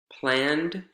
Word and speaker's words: planned: added vowel sound here planned planned a garden planted planted a garden planned one syllable planted two syllables and we're going to